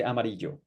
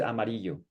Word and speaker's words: amarillo: If you talk to me, I would say amarillo. It's more like a J sound. If you talk to my mom's pronounced the Y and the double L like yeah. So she would say amarillo, amarillo.